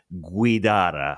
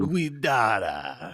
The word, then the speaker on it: Guidara: His name is Will Guidara. What a beautiful Italian name. It's supposed to roll off the tongue. Guidara. Yeah, brother. You see that? Love it. Well, without further ado, we have Will Guidara on the show, who